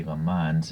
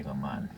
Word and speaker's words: Le Mans: audi r8s from the le mans 24 hours of amman although it's spelled le mans so i often say the months even though french people say go mon yeah it doesn't matter to me okay anyways so